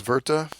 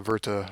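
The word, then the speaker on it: Wirth: of impersonal experience um leis verta I it looks like worth it's a German pronunciation he wrote another classic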